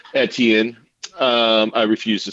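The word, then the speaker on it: Etienne: didn't happen Edan though Travis edian the proper French pronunciation thank you very much eten um I refuse to say it the other way because I'm an educated man um edian etan Travis etan all right high rollers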